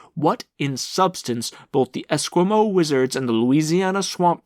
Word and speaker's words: Esquimaux: down amongst the diabolist Esquimaux. I'm guessing that's Eskimo, but it's spelled like Esquimaux, but we're going to go with Esquimaux.